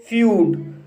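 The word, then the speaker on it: feud: इसी तरह से फ्यूड, फ्यूड शब्द में ई यू आया है और यहाँ पर ई यू का उच्चारण यू हुआ है, इसलिए इसे फ्यूड पढ़ते हैं।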